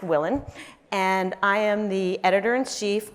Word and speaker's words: Willen: introduction my name is willin pronounced Willen and I am the